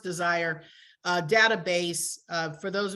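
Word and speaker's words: DSIRE: the the desire not it's not spelled desire but it's it's pronounced desire uh database uh for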